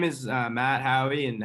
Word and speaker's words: Haughey: name is uh matt howey and howie is spelled e h-a-u-g-h-e-y it's not like phonetic it's spelled kind of weird um but you can